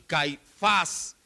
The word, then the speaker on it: Caifás: 26 57 a nash no es anás y caifás es anás y caifás llevan acento ambos en la última sílaba anas era la mente